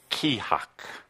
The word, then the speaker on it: Kea-hak: feel into this word it is it is pronounced khaak khaak that sound fun you can say it